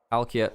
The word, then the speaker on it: Palkia: Oh yeah, by the way, Parukia is pronounced Palkia basically.